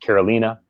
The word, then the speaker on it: Carolina: You know, your name is pronounced Karolina.